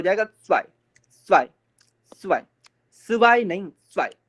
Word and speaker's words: zwei: और ये 2 हो जाएगा zwei, zwei, ता सा वाई ई, zwei, zwei। ता का साउंड आएगा, फिर सा भी आएगा, बट ता का साउंड हल्का आएगा, सा का साउंड थोड़ा सा ज्यादा आएगा, तो zwei, zwei।